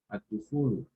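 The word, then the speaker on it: الدخول: Let's take out this ad-dukhulu, which means the entry. The entry. Right? Now the lam is silent here because the dal is a sun letter.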